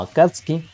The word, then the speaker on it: Akatsuki: Akatski sin pronunciar la U. Vale, de acuerdo. Venga, pues será la pronunciación correcta, digo yo. Vamos a continuar. Aunque hoy en Occidente la conocemos simplemente como Akatski, durante varios años antes